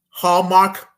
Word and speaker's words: Hallmark: It rhymes with Walmart. Hallmark, Walmart. Now we about to talk about Walmart.